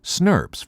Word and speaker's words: snRNP: small nuclear ribonucleoprotein particles or snrnps pronounced snurps for short as the name suggests